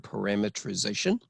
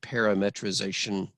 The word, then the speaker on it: parametrization: practice saying the word parametrization and its verb counterpart parametrize some people pronounce it parametrization and parametrize but i like saying the word parameter inside of there call me crazy so